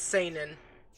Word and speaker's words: seinen: okay how do you how do you pronounce that i always i always uh read it as a sinning it's cenan yes or saining saining yeah